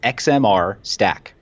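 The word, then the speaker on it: XMR-Stak: One recommendation that I would make to anybody who's looking at it is get comfortable with XMR Stack. It's spelled XMR STAK.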